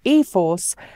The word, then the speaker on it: e-4ORCE: system nissan says the e 4r c ii system pronounced ephors could offers quote powerful